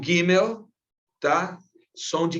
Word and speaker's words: Gimel: E o G, como falei para vocês, que está aparecendo aí para a gente, o Gimel, né? Como aparece, ele vai soar sempre como G, não como G, tá?